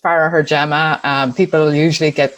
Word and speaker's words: Farragher-Gem: out but but yeah so it's pronounced pharah her gemma and people usually get